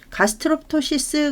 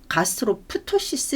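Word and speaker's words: gastroptosis: 하실 수 있어야 되겠죠이 가스트로토시스 같은 경우는이 피가 이제 묵음인데 그래서 뭐 가스트로 푸토시스 이렇게 발음을 하면 안 된다라는 얘기죠 그래서 중간에 이제 피가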